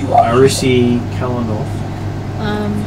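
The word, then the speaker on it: Aerisi Kalinoth: She says her name is Arisi Kalanoth. Can you spell that for me?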